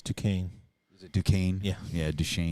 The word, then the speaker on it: Duquesne: But Next they play Duchesne, which is spelled Duquesne. It's Duquesne.